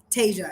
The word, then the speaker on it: Tasia: please ask your name Tasia it's just Asia with the T in front of it yeah okay my name